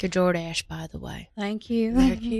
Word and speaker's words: Jordache: Even the name is classy, George, because there's a like a little sound at the end. You don't really see, you only barely say it. Jordache. It like informs the second syllable of the brand.